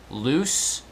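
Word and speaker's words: Luce: time was I believe his name was Henry loose l-u-c-e I believe it's spelled he was a skull and bone Society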